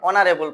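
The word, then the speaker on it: honourable: যেমন an hour N honest N অনারেবল person. আমরা এখানে কি দেখছি? এখানে এইচ আছে। এই শব্দটার শুরুতে এইচ আছে। এই থাকা সত্ত্বেও এই এইচ এর উচ্চারণ এখানে সাইলেন্ট।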